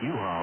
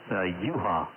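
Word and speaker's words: Juha: Name is U-Haul. Let me spell that. Again. U-Haul.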